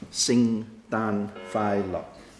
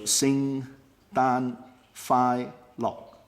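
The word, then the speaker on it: 聖誕快樂: one is Merry Christmas Merry Christmas is simply sing than Philo so sing ban fie lock if you look at this worse or it means is sing and done and Phi and lock it doesn't give you the tune but if you look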